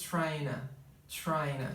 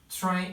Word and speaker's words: trying: vão falar I was tryna. Então, existe essa conexão entre essas duas palavras. Trying, é claro que o G aqui não é pronunciado, ele acho que 100%, né?